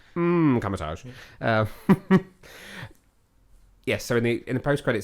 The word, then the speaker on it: Kamar-Taj: It's a silent M at the beginning of that. Kamatage.